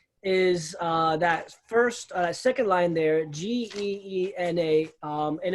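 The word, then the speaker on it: γέεννα: Now, the actual Greek word you're going to find in your Greek manuscripts is that second line there, Geena, and it's actually going to be pronounced very similar to Gehenna, even though it's spelled differently.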